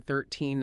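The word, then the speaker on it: thirteen: Like differentiating between 13 and 30. Oh, that one's huge. The key is the stress. With 13, the stress is on the second syllable. With 30, it's on the first.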